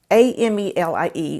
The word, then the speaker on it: Amelie: And her name is Amelie. It's A-M-E-L-I-E, but it's pronounced Amelie.